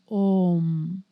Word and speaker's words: Om: are three letters a ma but really it's pronounced om and and the end of the after a